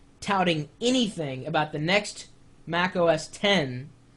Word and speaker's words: Mac OS X: and yes it's pronounced Mac os10 when you see that the X that's 10 in relation to that